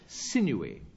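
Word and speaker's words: sinewy: Uh, in fact, it's sineuy. It's rather a difficult one because it's three syllables when you'd expect.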